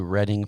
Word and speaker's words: Reading: could come going to Reading Pennsylvania tomorrow why buying a kiln from another is that spelled like reading yes oh damn I learned something today I really did it's